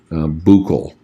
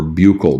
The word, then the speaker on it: buccal: It's actually buccal or buccal, depending on how you want to pronounce it.